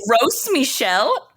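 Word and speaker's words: Gros Michel: and gross Michelle bananas is it pronounced gross Michelle I thought it was gross it's almost definitely grow it's in the notes so I our French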